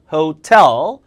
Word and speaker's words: hotel: 강세 뒤에요. 호텔이 아니라 hotel. 자, 호텔 강세 절대 이름절 아니에요. hotel 이름절.